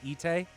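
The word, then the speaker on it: Itay: in here too so they're both ite e-t-a-y and i-t-a-y are both pronounced ite interesting okay well it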